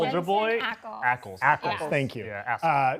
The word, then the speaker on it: Ackles: Am I pronouncing his last name correctly? Soldier Boy? Ackles.